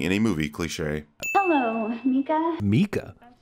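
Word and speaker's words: Micah: Hello, Mika. Mika? I know that's how the actor pronounces his name, and that's how the movie pronounces it, but I'm pretty sure that's wrong.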